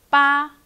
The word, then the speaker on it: 八: Okay, got it?And number 8, 八, 八, it's the easiest one, 八, high flat tone, 八.